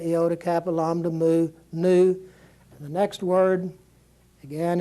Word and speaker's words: nu: called new and it's going to be like the n and the word net net in Alpha Beta Gamma Delta Epsilon Zeta ETA Theta Iota Capital om to move new and the next word